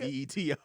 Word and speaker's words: Beto: B-E-T-O. Yeah, It's supposed to be like Roberto, Roberto, yeah. It's supposed to be Beto.